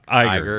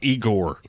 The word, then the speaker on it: Iger: Did I say it wrong? Iger. Yeah, you sounded like Igor.